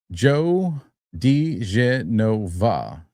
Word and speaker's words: Joe diGenova: It's pronounced Joe DiGenova. Just saying. Joe DiGenova.